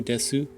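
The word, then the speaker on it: です: Taho Desu. Oh, that's how they say the name. But they spell it t a h o and then des. They cut the e.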